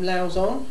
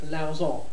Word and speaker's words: Lauzon: This one, I call him Lauzon, and I pronounce it like that. I'm European, so we sort of do it the French way, Lauzon, rather than Lauzon, as he likes to call himself.